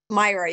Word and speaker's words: Myra: your your name correctly is it Mayra or Myra Myra you got it correct got it thank